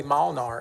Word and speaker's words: Molnar: again sir sorry do you know who Molnar is spelled my last name m-o-l-n-a-r works at the